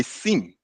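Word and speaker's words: SIEM: you call um a sim a Sim Sim is spelled s i e m and what does it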